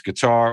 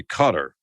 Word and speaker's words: Qatar: the pronunciation whether it's guitar or as locals say cutter yeah I I think it is actually Qatar so cat R the because the t is part of the first syllable um at least that's